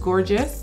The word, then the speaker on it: Gorgius: hair sponsor is gorgeous in the past i've said gorgeous i've said a lot of different things but i believe it's pronounced gorgeous gorgeous hair they're known for